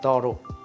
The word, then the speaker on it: thorough: a proper manner right so thorough is the next word thorough it's some of us make mistakes with the word called through t-h-r-o-u-t-h true but it's a Toro t-h-o-r-o-u-g-h thorough for example I have